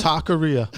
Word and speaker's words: Talkeria: Did I say Talkeria? Talkeria. And that's how you have to pronounce it for some people. Because that's what it is. It's a talk-aria.